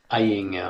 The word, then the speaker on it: Ayinger: how you pronounce it iing yeah it's just how you think uh but yeah this